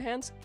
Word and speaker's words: Hans: He went to go hide Hans like Hans from Frozen. Yeah, I'm like when I hear people talk about Hans Christian Anderson, I hear them some people pronounce it as hands and I'm like, ah, okay.